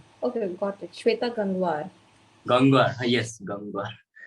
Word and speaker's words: Gangwar: Gangwar. Yes, Gangwar. You're not able to pronounce the sound ver, right?